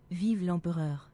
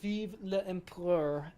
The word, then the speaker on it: Vive l'Empereur: We don't pronounce the E, so it's like Vive l'Empereur.